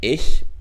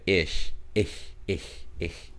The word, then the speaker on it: ich: like ich bin bro where do you see a k i mean i could see you saying ish you know because you know the pronunciation of the ch is you know it can be a little bit funky but i know isn't it like ish oh oh my god